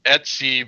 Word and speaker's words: Etsy: And Nick, it's Etsy because ETC, you phonetically pronounce it et and then C, so Etsy.